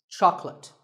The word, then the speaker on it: chocolate: this at the store make sure that there are only two syllables Chuck and let chocolate and remember there is no late in chocolate speaking of chocolate how